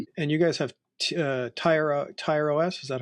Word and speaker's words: Tyr: And you guys have Tyro Tyro OS. Is that how is that how you pronounce it? Tieros. Yeah. The Nordic God of War tier.